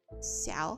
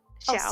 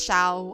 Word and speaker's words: Xiao: How do you say his name again? Xiao. I just want to make sure. Xiao. Oh, Xiao. Yeah. Xiao. Okay, yeah. I wanted to make sure I was pronouncing it right. No, don't worry. Thank you. I know that some like Americans and stuff, like some white people are always like, it's Shao. I'm like, Shao.